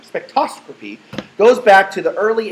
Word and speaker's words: spectroscopy: So the science of spectroscopy, I keep saying it wrong, spectroscopy, goes back to the early 1800s, where William